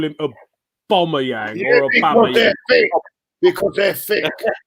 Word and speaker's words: Aubameyang: Terry, you actually say the right pronunciation. They're all people laugh at you, right? But that it's true. Is it? It's Aubameyang.